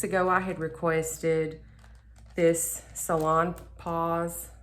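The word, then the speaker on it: Salonpas: Okay, so a few weeks ago I had requested this Salon Pause. I think it's Pause. I think you pronounce the S.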